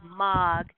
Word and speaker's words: Moog: way to pronounce it it looks like moog m-o-o-g but it's mog and it's in the